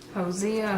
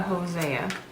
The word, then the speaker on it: Hosea: word see if I was anywhere near closed Hosea or osya okay so elbows closer Hosea a home Zia okay all right so it was right there Hosea Hosea okay all right so we took that apart